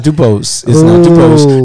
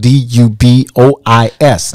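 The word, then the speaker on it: Du Bois: uh-huh no it's not dupos dubose is actually spelled d-u-b-o-s-e this is spelled d-u-b-o-i-s dubois so the s is silent that's right i love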